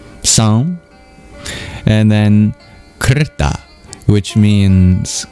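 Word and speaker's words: sam: It sounds like the word sand is in there, isn't it? But it's actually the word s which means complete. S A M song.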